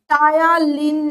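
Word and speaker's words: ptyalin: আসে, নট এখানে মানে পি উচ্চারণ হয় না, সরি সরি, এটা হচ্ছে টায়ালিন নামক হচ্ছে একটা উৎসেচক।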